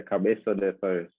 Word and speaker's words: Cabezo de Torres: And I'm going to see if I can pronounce this right. Cabezo de Torres, is that right? Yeah, Cabezo de Torres.